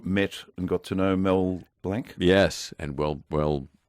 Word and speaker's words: Blanc: and got to know Mel Blanc? Yes, and well pronounced. Because I run into people now who try to say Mel Blanc as if he's a French waiter. Like a Mont Blanc.